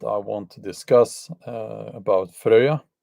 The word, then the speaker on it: Freya: To continue doing that, I have a topic that I want to discuss about Freya. The Americans say Freya. Freya, they say.